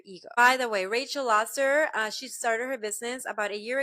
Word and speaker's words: Lasser: Lasser.